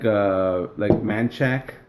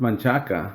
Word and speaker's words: Manchaca: I hate the way people pronounce shit in Austin, like Manchac. Oh yeah. It's Manchaca.